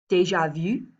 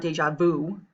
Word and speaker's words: déjà vu: So again, this is the sound that you have in French, like déjà vu, okay? It's not déjà vu, okay? If you pronounce with an American accent, it should be déjà vu, okay?